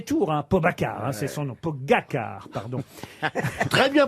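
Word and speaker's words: Pogačar: pour son premier tour, Pogacar, c'est son nom, Pogacar, pardon. Très bien prononcé.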